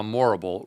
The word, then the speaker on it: Morrible: You see there how Morrible rhymes with horrible was manipulating Glinda, telling her to do some good.